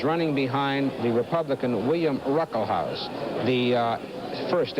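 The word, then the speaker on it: Ruckelshaus: second term is running behind the Republican William Ruckle House. The uh first S in his name is pronounced it's silent. William Ruckle House who's the majority leader.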